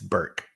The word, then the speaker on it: Burke: i pronounce my name it's burke just burke it's a hard it's a hard k i think it's a